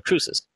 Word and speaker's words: Cruces: Cruces. And yes, that is how you pronounce his name.